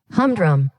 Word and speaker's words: humdrum: হ্যাঁ, আচ্ছা, এটার প্রোনাউন্সিয়েশন যদি আমি একটু দেখার চেষ্টা করি, সেটা হচ্ছে Humdrum. হামড্রম, Humdrum. হামড্রম। ওকে, আবার ড্রুম বলা শুরু করো না, এটা হচ্ছে ড্রম, DROM।